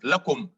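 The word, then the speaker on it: لكم: When attached to a pronoun, we said the lam is pronounced la. Otherwise, it is pronounced li. For instance, lakum.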